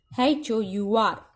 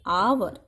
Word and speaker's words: hour: Same way, HOUR. It is not hour, it is hour.